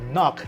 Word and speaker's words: NUC: bears intel's iconic brand since intel launched their knock that's a next unit of computing pronounced like lock these are their small form